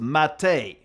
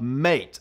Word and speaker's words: MATE: mate edition and yes it is pronounced mate like the weird tea like leaves that you can drink not mate it's not an australian